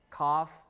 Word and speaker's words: cough: some in some words in some words the C with a tail and the X they became f as in last half cough tough and enough right now in the